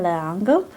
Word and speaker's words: L'Engle: was written by Madeleine L'Engle I do believe that's how her name is pronounced as a French name uh it says here